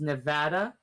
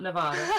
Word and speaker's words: Nevada: and here we go right now it is pronounced nevada not nevada okay sorry oh nevada i don't hear